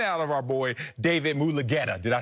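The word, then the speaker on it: Mulugheta: And I expected greatness out of Deshaun and out of our boy, David Mulugeta.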